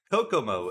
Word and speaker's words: Kokomo: so I appreciate the assistance from everybody and Kokomo is how we pronounce that one track uh that we are